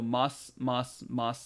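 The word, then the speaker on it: ます: So mas, mas. Notice the U kind of isn't being pronounced here.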